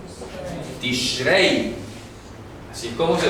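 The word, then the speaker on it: תשרי: escribiendo aquí en grande, el mes se llama Tishrei. Tishrei, así es como se pronuncia. Entonces yo he visto, repito, hay algunos autores que ponen Tishri o Tishrei, no, Tishrei, es lo correcto, Tishrei.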